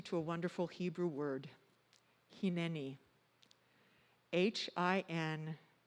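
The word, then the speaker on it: הנני: a wonderful hebrew word hini h-i-n-e-n-i it is pronounced with long e's he knee and it translates to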